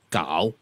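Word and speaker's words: เก้า: First of all, The Thai numeral 9 is pronounced kao. Now kao, like homonyms, I think Denise will bear this out.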